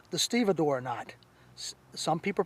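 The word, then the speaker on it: stevedore: of blocks the second knot is called the stea door knot some people pronounce it stev door but it's stea door knot it's also used by long shoreman loaders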